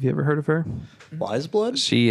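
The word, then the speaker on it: Weyes Blood: right now have you ever heard of her wise blood she it's spelled w ey es wise blood yeah she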